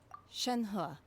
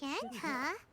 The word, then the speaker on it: Shenhe: Shenhe, Oh, that's how you say it. Shenhe?